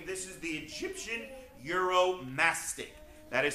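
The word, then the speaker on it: Uromastyx: very odd 70 name this is the Egyptian euromastic that is spelled u-r-o-m-a-s-t-y-x we call him Muro for short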